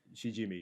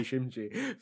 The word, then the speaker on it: Shijimi: Shijimi. Yes, so I pronounced it wrong the whole time. I thought it was everyday Shimji for the longest, but I only realized today it's pronounced that way.